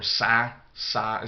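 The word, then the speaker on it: ផ្សារ: to any market or sack size is how you say market and you get these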